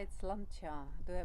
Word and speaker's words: Sláinte: The only word I'm able to say is slancha. Do I pronounce it well?